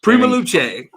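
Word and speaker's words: Prima Luce: a good friend of is it prima luche is that how you say it because it's italian right yes prima luche first flight labs yeah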